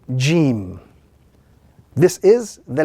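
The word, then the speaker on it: ج: So when the tongue actually rises and the middle of the tongue touches the gums or the upper palate, that gives us the sound Jim.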